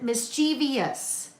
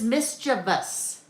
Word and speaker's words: mischievous: I always want to pronounce it mischievous, but it is mischievous.